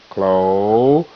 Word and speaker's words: closure: Clo. Z. Zer. Closure. Closure.